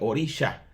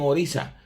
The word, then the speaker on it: orisha: sh sino s pero esa s tiene como un apóstrofe arriba que se pronuncia como una Che entonces por eso es orisha algunos dicen orisa pero para nosotros los